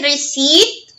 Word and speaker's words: receipt: Ulitin natin yung receipt ay silent P and conceive.